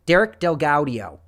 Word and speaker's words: Derek DelGaudio: part derek delgaudio from i don't think that's how you pronounce it it is i double checked before this derek del guardio derek delgaudio i know it's right okay i've double checked